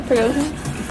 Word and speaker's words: Prigozhin: Yeah, Prigozhin.